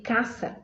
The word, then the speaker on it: casa: Som de Z não tem em espanhol, então lemos aí casa, casa.